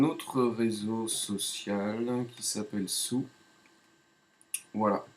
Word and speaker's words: Tsù: sue alors je répète ça s'écrit sous mais ça se prononce sous si je clique est